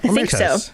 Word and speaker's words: Omertas: And I want to start off um introducing the the Omertas. Is that how you pronounce that? Yeah. Omertas. Yes.